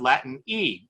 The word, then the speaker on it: Latine: Outside of the United States, in Latin America particularly, we've seen the emergence of Latin E, an alternative to Latinx, so Latine, so that when you pronounce the word, you can actually pronounce it.